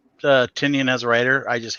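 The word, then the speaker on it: Tynion: It's Tinian.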